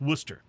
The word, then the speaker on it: Worcester: is spelled like it's warchester w-o-r-c-h-e-s-t-e-r but it's pronounced worcester and then there's a neighborhood in boston called